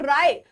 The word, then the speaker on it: राय: और राय जो राव नहीं होगा। राय होगा यहां पर थोड़ा सा एक स्पेलिंग मिस्टेक हो गया। राय। ठीक है? राव नहीं राय।